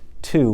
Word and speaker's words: to: This word is to. What's tricky about it? This O right here is not saying ah, like we've learned. It's not even saying O. It's saying oo. To.